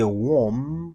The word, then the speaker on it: womb: En même abdou gen différence entre womb avec belly. Tant des gens prononcer d'abord Bea is a silent letter. We don't say in the womb, but we say in the womb of your mother.